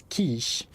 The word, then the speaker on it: quiche: It's pronounced quiche.